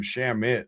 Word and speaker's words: Shamet: other Clarkson played 21, Shamet played 21. It actually says you pronounce his name Shamit, too. Sham- Shamit somehow. IT they said it's like dammit.